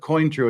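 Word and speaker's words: Cointreau: vodka two ounces of coin true and yes I pronounce it coin true I don't pronounce it like the French do because nobody else does two ounces of orange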